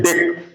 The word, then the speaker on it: dec: और लेकिन जब अकेले लिखा रहता है DEC तो उसको लोग कहते हैं डेक। चलो नीचे हो रहा है डे, ये देखो लिखेंगे डेक, लेकिन स्पेलिंग इसकी रहती DEC, इसी में इलियन